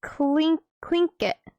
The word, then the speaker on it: Tlingit: It's pronounced Tlingit.